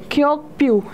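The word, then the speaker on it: Kyaukphyu: इसका हम प्रोनाउंसिएशन देखते हैं, क्योक्प्यू.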